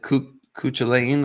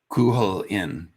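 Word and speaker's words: Cú Chulainn: Cuchulainn Cuchulainn Cuchulain okay so the second C is silent.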